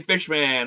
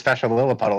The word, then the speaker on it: Fesha Lilliputtle: I see him, because every time I got his name wrong, he got really mad. I remember that. Hey, Fishman, what's up? Yeah, and he was like, "Don't call me that. My name is Fesha Lilliputtle."